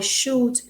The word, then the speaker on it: should: Esse uzinho aqui não é pronunciado.